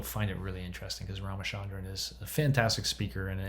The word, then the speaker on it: Ramachandran: to go to YouTube, search Ramachandran, spelled like it sounds, Ramachandran, and phantom limb, and